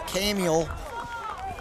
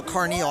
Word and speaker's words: Carneal: Nice look by number 21, Max Camiel. Is that correctly pronounced? Oh, Carneal, I apologize. I thought it was an M in there, yeah.